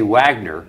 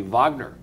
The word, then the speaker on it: Wagner: you don't sit no shame you don't say Wagner the great composer Wagner you say vogner well I don't I say Wagner well you're